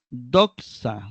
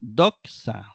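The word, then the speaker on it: δόξα: circunflejo el acento circunflejo tenemos otra doxa doxa eh Igualmente eh tiene el acento en la penúltima sílaba termina en a o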